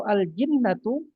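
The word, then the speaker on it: الجِنَّة: Tapi kalau aljinnatu yang jimnya kasrah artinya jin.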